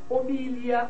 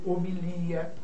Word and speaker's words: homilia: Nós temos Oceânia ou Oceania, Balcãs ou Balcãs, homília ou homilia, hieróglifo ou hieroglifo, projétil ou projetil, réptil ou reptil, né?